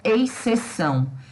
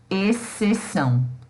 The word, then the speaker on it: exceção: E eu não vou pronunciar exceção. Muita gente pronuncia exceção. E, na verdade, esse xizinho aqui, ele, na pronúncia, não existe, tá? Então, a gente vai ter a pronúncia exceção, como se o X não existisse. E, de fato, na pronúncia, ele não existe mesmo.